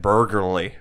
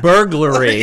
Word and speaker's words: burglary: The one day, I still can't say it. Burgerly. I can't say the word burgerly. Is that a word? What do you? Burger. Like, when you rob someone. Oh, burglary.